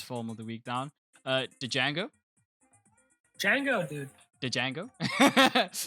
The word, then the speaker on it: Django: Django. Django, dude. The Django? It's Okay, Django do you mean Unchained. No, it's Django Unchained. yes? It's the Django Unchained. It's spelled with a D, dude.